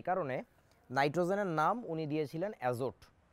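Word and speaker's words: azote: তো NH3 এটার নাম উনি দিয়েছিলেন যেটা, সেটা হচ্ছে অ্যাজো, টিটা সাইলেন্ট, টি এর উচ্চারণ হবে না। জাস্ট লাইক তোমরা সুনামি নামের ক্ষেত্রে শুরুতে যেমন একটা টি বলছি আমরা, সুনামি উচ্চারণে টি উচ্চারিত হবে না, তারপর নিউমোনিয়া উচ্চারণে পি উচ্চারণ হয় না, এক্ষেত্রে শেষের যে টিটা আছে এটা উচ্চারণ হবে না, সুতরাং উচ্চারণটা হচ্ছে অ্যাজো।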